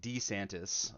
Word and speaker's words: DeSantis: case you're unaware Ron DeSantis I'm sorry D santis it's so awkward to say but apparently that's all his name's pronounced I don't know I